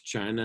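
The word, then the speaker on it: Qin: very much part of china today is known as confucianism from kung fuzi the philosopher now um the chin family and it's spelled like the chin on your chin yes this thing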